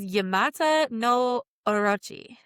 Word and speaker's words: Yamata no Orochi: pronunciations and I fucked it up. So this is Yamata no Orochi.